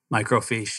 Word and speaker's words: microfiche: i didn't know exactly is that how you say it michael fish microfiche yeah and look at the stocks